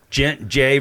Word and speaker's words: Gex: going to say Jay so it became J J we know how to pronounce the French language right okay but so